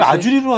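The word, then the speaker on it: Azure: 유니폼을 입고 있기 때문에 그래서 애저는 뜻 아주로 하지 왜 또 아저 그게 아무 약간 뭐 일본식 발음 같기도 하고요 뭐 각 국가마다 저 발음하는게 다 틀리긴 합니다네 그래서 저희가 윈도우 애저란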